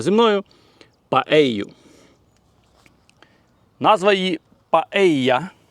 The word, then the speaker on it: paella: Паею, назва її Паея, але мабуть через двійне л в назві транслітерація в Україні є як паелія, але двойне л в Іспанії читається як й, тому це є паея, так само як місто, наприклад, Севія, а не Севілья. І острів Майорка, а не Мальорка.